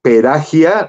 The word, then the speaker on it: Perahia: lo han oído Por favor busquen a Murray perahia se escribe así con p pera y h y a perahia Murray peraya es uno de los grandes grandes grandes pianistas